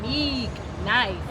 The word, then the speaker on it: Neeek Nyce: but he said no, you got to put some emphasis on it. Neeek Nyce, like spell it unique.